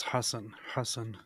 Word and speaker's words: Hassan: It's Hassan. He said Hassan. It's because Jews, they have the normal H and the harsh H.